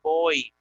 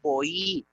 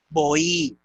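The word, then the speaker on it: βοΐ: a tener la diéresis, indicando que no vamos a decir boy, sino boí, indicando que se va a pronunciar la iota en una sílaba distinta y separada de la omicron. No hay dictongo aquí, hay hiato. Por eso, boí.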